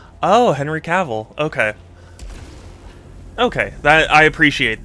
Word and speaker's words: Cavill: my name self himself says like travel. Oh, Henry Cavl.